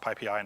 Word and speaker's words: PyPI: It's pronounced PyPI, not PyPI or anything else.